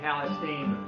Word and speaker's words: Palestine: from Nacogdoches down to Palestine. The locals say Palestine, but Palestine rhymes.